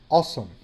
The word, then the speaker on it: awesome: There is a combination by the A and the W that sound like O. So this is the word awesome.